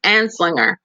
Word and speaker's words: Anslinger: How do you pronounce his name again? I say it's Anslinger. It's Anslinger.